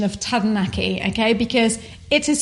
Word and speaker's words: Taranaki: on let's just talk about the pronunciation of tadanaki okay because it is spelt taranaki and we up until three months four months ago when we started doing youtube we always called it just taranaki taranaki because that's what everyone else calls it and